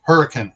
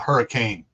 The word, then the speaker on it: Hurricane: And it's pronounced hurricane, not hurricane.